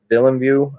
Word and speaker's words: Villeneuve: And the director of the upcoming Dune movie, Denis Villeneuve, I think is how you say his name.